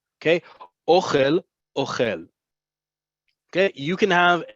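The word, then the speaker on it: אוֹכֵל: Ochel, ochel, accent on the last syllable is I, you, he eats. Present tense is the verb. Okay, ochel, ochel.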